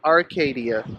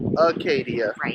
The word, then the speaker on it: Acadia: Not Arcadia, but Acadia National.